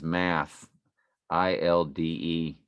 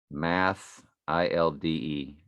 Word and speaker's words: Mathilde: Math, ILDE. Well, that's the little girl's name. Her name is Madeline. This is Mathilde. Math, ILDE. And they call her Mathilde. So I guess the H is silent.